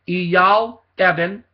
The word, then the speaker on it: Eyal Evan: His name is spelled E-Y-A-L, and the last name E-V as in Victor, A-N as in Nancy, Eyal Evan.